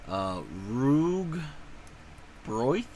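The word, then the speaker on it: rugbrød: Actually, it's pronounced Rug Broith.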